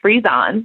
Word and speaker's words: Frezon: Frezon.